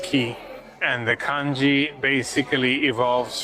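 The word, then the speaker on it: 木: For example, for the word tree, which is pronounced key, and the kanji basically evolves from what would have previously been a drawing of a tree, right?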